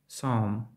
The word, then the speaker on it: psalm: P не вимовляється у сполученні P, S на початку слова. Psalm. Сюда.